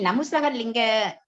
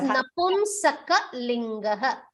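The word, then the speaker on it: नपुंसकलिङ्ग: Bhagini, Namusakalinga. The word is Napumsakalinga.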